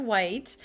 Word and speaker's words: Whyte: white on instagram like the city white spelled with a y cuz we're trendy now